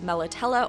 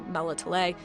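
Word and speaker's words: Melitele: see the temple of melatella or melatele doesn't matter how you say it it's said both ways it's not a big deal and we're gonna see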